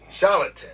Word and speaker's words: charlatan: me a shagan sh how you say it Charan or a charatan charlatan I'm a charot Rend